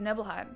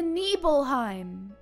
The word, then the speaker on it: Nibelheim: how it all started sorry nibbleheim not nibbleheim I don't know why I said it wrong this is the Nibelheim Nibelheim this is the